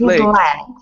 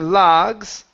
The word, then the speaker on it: legs: the mouth so much so you're saying logs instead of Ls it's e legs his legs eggs time his leg his legs tired good yeah it's a shorter vowel okay so instead of